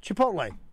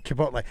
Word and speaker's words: Chipotle: Chipotle. Correct enunciation and pronunciation. I think you got it. You just nailed it. Say Chipotle. It. Mm-hmm. Chipotle. I think you enunciate the PTL.